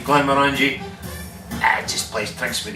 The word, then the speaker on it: Glenmorangie: It rhymes with orange. Orangey, Glenmorangie.